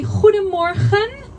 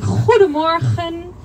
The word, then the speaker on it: goedemorgen: We have a lot of G's in our language and we pronounce it like so we say goedemorgen. I know it sounds kind of terrible, but that's just the Dutch language.